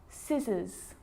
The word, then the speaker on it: scissors: a few problems because it's often silent after the letter s like in these very common examples they're quite tricky muscle muscle scissors fascinate scene scenario muscle